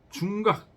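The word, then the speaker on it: 重較: 중각 교자인데 각이라고 있습니다. 각이라고 읽을 때는 수레예요. 수레. 제후들이 타는 수레. 사대부들이 타는 수레.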